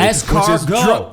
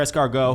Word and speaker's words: escargot: and he's not even fucking pronouncing it correctly. Escargot.